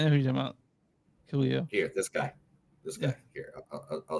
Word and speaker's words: Kaleo: Oh, man, I'm gonna mispronounce this. K-Leo. Yeah, I know what you're talking about. Yeah, Kaleo.